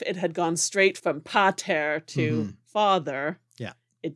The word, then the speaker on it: pəter: And so pater, the first syllable was unstressed, and the stress falls on the second syllable there.